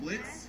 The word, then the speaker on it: Blitz: you it's like it's Blitz up with a silent oh so just Blitz just Blitz there are